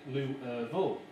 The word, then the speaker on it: Louisville: And this is Katie, who was working in Louisville, which is where I found out that you're supposed to pronounce it Louisville.